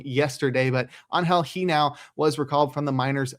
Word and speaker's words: Genao: I pronounced it wrong yesterday, but Angel Genao was recalled from the minors by the Guardians.